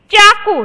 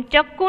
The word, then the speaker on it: चाकू: तो हम चक्कू नहीं बोलते, हम क्या बोलते हैं? चाकू बोलते हैं। क्या बोलते हैं? चाकू। तो उसका सही उच्चारण कौन सा होता है? सही उच्चारण क्यों? चाकू।